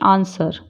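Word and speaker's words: answer: है ज जैसे कि आंसर आंसर में डब्लू साइलेंट है स्ड सर्ड बोलते हैं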